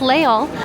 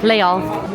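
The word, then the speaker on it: Les Halles: It is pronounced leol. I just confirmed that even with a French cast member. So, Leal Leol.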